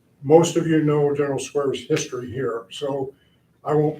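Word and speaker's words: Squier: honor of Major General George Owen Square as he pronounced it appreciate it is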